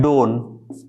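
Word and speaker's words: don't: क्या पढ़ेंगे हम लोग इसको पढ़ेंगे डोन राइट इसको क्या पढ़ेंगे डजन टी साइलेंट होता डोन और डजन पढ़ेंगे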